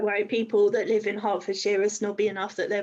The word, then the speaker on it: Hertfordshire: know what i know i know hertfordshire is called hertfordshire now but i would have said hartford shire or something like that because i